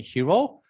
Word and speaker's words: Hiro: So when I was in US, I asked them to call me Hiro, Hiro, and and sounds like Hero.